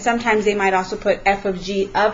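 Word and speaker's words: f ∘ g: much you will see f of G and that is how it's pronounced it's pronounced F of G it kind of looks like the word fog this little symbol in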